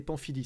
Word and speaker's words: Pamphilj: Et qu'à Rome, on a visité un truc qui s'appelle la galerie des Pamphili. Ça s'écrit Pamphilj avec un J à la fin.